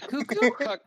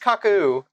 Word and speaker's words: Kaku: Cuckoo. Kaku the seer. No. No. I'm pretty sure it's just Kaku.